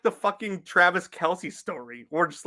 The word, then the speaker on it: Kelce: oh yeah, by the way, it's pronounced Kels. Like, sorry, Travis, we're not fucking calling you Travis Kels.